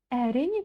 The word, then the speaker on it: әрине: Кстати, әрине это будет прям вот реально по правилам, когда ударение падает на первый слог. Ой, на последний слог. Но я вот честно скажу, в Казахстане я очень часто слышу именно, когда ударение стоит на втором слоге.